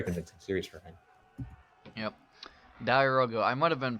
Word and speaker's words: diarouga: Diarouga. I might have been pronouncing his name incorrect earlier. I saw somebody in chat right now saying. Yeah, it's. I'm pretty sure it's diarouga.